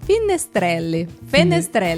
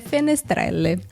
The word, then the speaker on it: Fenestrelle: Nada mais se trata do que do Forte de Finestrelle. Fenestrelle, é. Forte de Fenestrelle.